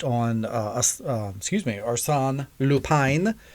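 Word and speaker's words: Arsène Lupin: uh us excuse me arson lupine as the french pronunciation they have that that high eye as they were saying it on the show if you will uh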